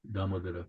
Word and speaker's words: Damodara: you said he's known as Damodaran, is it? Damodar. Damodara, yeah.